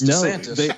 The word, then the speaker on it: DeSantis: It's DeSantis, like diabetes.